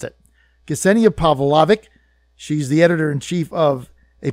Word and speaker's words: Ksenija Pavlovic: I did that good Ksenia Pavlovic in fact I had to ask ascending it to send me a an audio tape of how to say her name and I practiced it Ksenia Pavlovic she's the editor-in-chief of